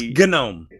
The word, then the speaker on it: GNOME: He says Josh also says that he pronounces it Damon. Oh, don't. But anyway, Josh says best GNOME release yet. That's GNOME.